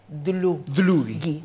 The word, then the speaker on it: Dlugi: yo era, y encima tenía el apellido impronunciable, que es polaco, es Dulli. Hay que practicar, a ver, un, dos, tres... Dlugi.